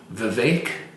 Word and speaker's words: Vivek: him and thank you Vivek is supposed to rhyme with fake I Rama Swami yeah